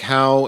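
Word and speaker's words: Haugh: That's Mike How and his last name is pronounced or is spelled H A U G H.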